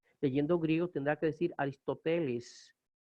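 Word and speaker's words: Ἀριστοτέλης: Leyendo griego tendrá que decir Aristóteles. El acento está sobre la epsilon, Aristóteles.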